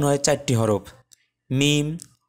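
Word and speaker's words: م: রাখার জন্য এবার আসি মিম কোথা থেকে উচ্চারণ হয় সেটি দেখতে মিম উচ্চারণ হয় দুই ঠোঁটের শুকনা অংশ অংশ থেকে অথবা দুই ঠোঁটের বাহির অংশ থেকে তো বেসিক্যালি ভেতরের অংশ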